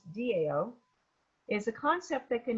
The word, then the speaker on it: Tao: perfect yeah and so the dow which is spelled tao even though it's pronounced dao is a concept that